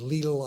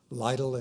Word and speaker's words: Lidl: As I was saying, the correct pronunciation is LLE. I've heard Little and and uh Lidle and other names.